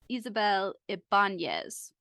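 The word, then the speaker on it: Isabel Ibañez: name by the way um so it is Isabel Ibanez but but yeah perfect thank you if in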